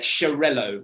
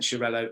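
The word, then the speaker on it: Xarel·lo: basically quite simple then you get chirello which is quite an odd it's spelt x-a-r-e-l hyphen-l-o it's quite a strange one but it's a catalan name and this is more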